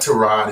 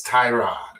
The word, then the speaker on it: Tyrod: It's not Trod, it's Tyrod.